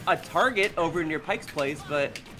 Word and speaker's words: Target: I mean, the old joke is people used to pronounce it as Tar-J because it was a fancier Walmart.